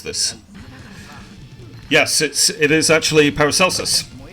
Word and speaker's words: Paracelsus: How you pronounce this. Yes, it is actually Paracelsus.